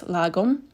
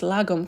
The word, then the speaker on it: lagom: And you really feel the essence of this lagom, the Swedish. I believe that I pronounced it correctly.